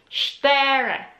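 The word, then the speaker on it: cztery: so number four is stere c-z-t-e-r-y so c-z is again one letter in polish alphabet which you need to emphasize as well if you're reading the word so so yeah that's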